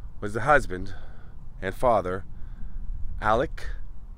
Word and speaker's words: Alex: the husband and father, Alec. Some say Alex. I've heard Alec, even though it's spelled Alex. Murdaugh.